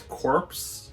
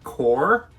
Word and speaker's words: Corps: problem in that video i pronounce this word as corpse it is not corpse it is core i am very stupid